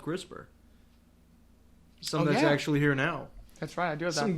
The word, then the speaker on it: CRISPR: yeah well get the CRISPR a little crisper yeah it's spelled just like it sounds Chris it's all I have there's no II see our i spr now it's called the